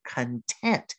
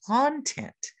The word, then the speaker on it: content: going to be content look at your mouth as you say content you emphasize the second syllable that means happy or satisfied that's my friendly definition don't say content because that means something else your things your belongings